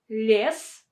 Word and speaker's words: лес: Лес and лиса. Лес, лиса. Лес, лиса. Can you notice the difference? So in the first word, лес, лес, лес, we pronounce this ye as e with a softened l.